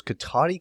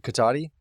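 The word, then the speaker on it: Cotati: of you know where this is um is katani California how do you spell that c-o-t-a-t-i and it is named after um the Native American chief of that area say it one more time I apologize katati it's basically linked with Runner Park which is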